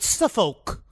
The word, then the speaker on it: Suffolk: It was actually in an area called Suffolk. I think it's pronounced Suffolk.